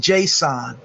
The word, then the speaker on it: JSON: is something you do need to know it's pronounced json okay i'm gonna give you a link to